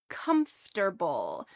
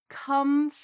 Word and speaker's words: comfortable: It is a shortened version of the word comfortable. Notice the pronunciation of this full word. Comfortable.